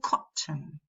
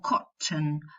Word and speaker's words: cotton: We say cotton, button, sudden, person, prison. Some people make the nasal syllabic, and some people pronounce a vowel before the nasal. They don't make it syllabic. So you'll probably hear prison with a schwa, or person with a schwa, or cotton, or button.